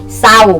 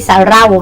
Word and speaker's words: เศร้า: เสียง 4 ระยะ นะ ก็ คือ สร้อย ไม่ ใช่ สร่อย เศร้า ไม่ ใช่ สาระ เล่า เนาะ จริง ไม่ ใช่ จะ ลิง นะ ลูก นะ อ่ะ